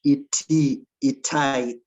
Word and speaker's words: Itai: yeah um well said itae am i pronouncing your name correctly itae yeah it's just itai okay um so thank